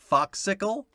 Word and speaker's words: Focscle: Foxicle? Yeah, like Foxicle, but it's spelled FOCSCLE. Like fuck.